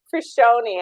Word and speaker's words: Fruscione: I strug those watching how would we say it properly for shy for shy I missed the for yeah very close Okay